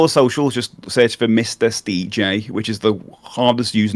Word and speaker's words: MrSteJ: socials just search for Mis stj which is the hardest used name to say no one knows how to say it but it's Mis D J which is my name